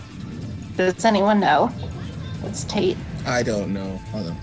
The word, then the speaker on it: tate: It's pronounced tate, you fuckers. Oh, I'm sorry. You say potato, I say potato. You say tate, I say tate. But it's like rotate, so it's like Tate.